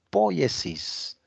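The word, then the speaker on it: poiesis: hablando de hacer viene una palabra griega poesis se pronuncia poesis significa creación realización lo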